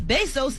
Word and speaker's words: Bezos: could reach epidemic proportions soon in other news Jeff Bezos is now did I say it right Bezos or be so sounds good BES OS yeah be z/os is now